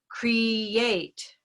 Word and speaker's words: create: for a minute okay so create create cree yeah is that why um that we find also up here at the top near green so create create and